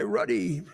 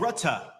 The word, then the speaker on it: Rutte: Oh, Rutta. Rutta. It was a little bit different than the spelling.